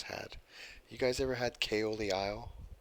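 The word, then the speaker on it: Caol Ila: me but the person on the story the KO of the aisle and what is the other one I just had you guys ever had kayo the aisle it's spelled Kol but wrong CA o L it's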